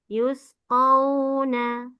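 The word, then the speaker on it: يُسْقَوْنَ: rodiah yuskauna mirahiqim makhtum yusq Qo qo bukan ka quna yusquna yusquna mirikim makhtum jangkauna bukan ka bukan a qo yusquna mirahim makhtum tambah guna miriim Makum.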